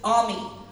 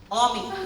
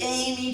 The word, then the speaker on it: Ami: It's, my nickname is Ami. Ami, like friend in French. Ami. My name is Amélie, okay? Amélie, nickname Ami. Hey, Amy Chan, you.